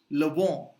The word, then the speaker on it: vent: Another example is le vent, which is wind. Le vent. So en is o.